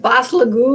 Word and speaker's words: basilico: Like basilico or something. Basilico. So every hard C that we hear in Italian to me comes off with a G.